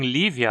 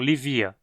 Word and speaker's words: Lívia: significa simplesmente pombo mesmo em Lívia a penúltima sílaba vi tem e curto então dizemos Lívia e não lhe via a palavra Lívia é